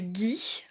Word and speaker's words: ghee: peut-être déjà entendu parler alors ça s'écrit gh2 eu parfois g h i rien à voir avec le gui j'ai eu un vous